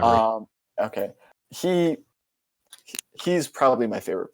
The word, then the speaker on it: Gnabry: Serge Gnabry, however the fuck you pronounce his last name. It's Gnabry.